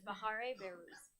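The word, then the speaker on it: Bahareh Behrouz: But it's Bahare Behruz. Hey, could you spell it for us, please?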